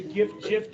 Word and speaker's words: GIF: I'm putting an end to the GIF debate. Kevin Ferguson has provided the answer. It is a hard G. It stands for Graphic Interchange Format. Boom. It is GIF.